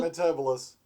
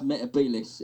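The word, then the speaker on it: Metebelis: Yeah, they were pronouncing it Metabolus. Yeah, well, it's Metabilis.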